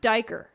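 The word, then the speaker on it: duiker: Okay, this is pronounced dyker. So when y'all hear me say that because we see these little deer, know that that's correct.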